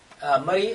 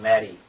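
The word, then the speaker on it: Murree: Murray, actually, spelling is different. M-U-R-R-E-E. Murray. Because of our, it's like a language, dialect. Yes. So we can call it Mary. Murray. So Mary is changed to Murray.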